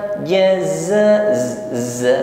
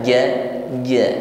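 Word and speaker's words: جزاء: Eng Ming mkum ja ja Za huru Za jangan sampai hilang mengucapkan Zaid sifat safirnya z z ya desis ini jaza Jangan diucapkan ja ja seperti Huruf Jim sehingga safir atau desisnya hilang jazza kita panjangkan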